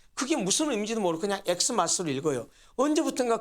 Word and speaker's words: Xmas: x 헬로 알파벳으로 표기하는데 사실 그 엑스 마스터로 읽으면 안 되거든요 그거 역시 크리스마스를 읽어야 맞거든요 그런데 오늘날 사람들은 그게 무슨 의미인지도 모르고 그냥 xmas를 읽어요 언제부턴가 그 엑스